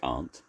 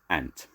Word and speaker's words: aunt: however hard they try they simply can't pronounce a simple word like aunt instead of aunt they call it ant instead of can't they